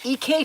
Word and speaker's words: EK: Somebody corrected me that that it's not pronounced Bazil, it's pronounced Basil. So, I have now learned that it's not EC tools, it's EK tools, and it's not Basil, it's Basil.